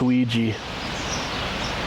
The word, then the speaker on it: Ouija: I think about it in French. Because oui, O-U-I, yes in French.